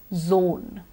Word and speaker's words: zone: North Zone or Joan the right option is zone everybody zone Joan would be a girl's name with that to be come